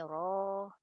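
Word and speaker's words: rho: Anak-anak jangan lupa ini dibacanya bukan P tapi RO.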